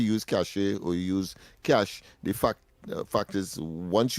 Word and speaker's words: cache: And it is it is pronounced cash. The the caller is saying that it's long cashache.